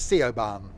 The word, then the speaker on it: Siobhan: You were just hoping I didn't know how to pronounce that, weren't you, Ethan? It's Siobhan.